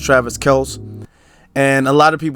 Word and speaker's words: Travis Kelce: A lot of people say Travis Kelce, but technically it's pronounced Travis Kelce.